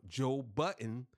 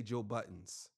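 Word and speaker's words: Budden: do that to Joe Joe Button I said it right this time Joe Button now I'm from Jersey and we usually say Joe Buttons Joe Buttons even know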